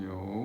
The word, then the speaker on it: 有: E-O 有. So that's third tone. Yo. Although it's the same, Yo.